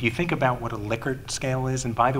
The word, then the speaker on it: Likert: data and if you think about what a Likert scale is and by the way it's about Li ke RT but it is pronounced Likert even though it that way the